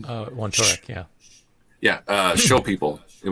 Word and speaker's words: Wontorek: This was you were being interviewed by Paul Wontorek, I believe is the pronunciation. Wontorek, yeah.